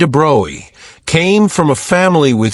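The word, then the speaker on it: de Broglie: Louie de Brgley pronounced roughly Droy came from a family with centuries of history in French military and political affairs.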